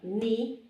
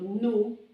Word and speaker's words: nu: And the word N, this is a ni, and also called nu.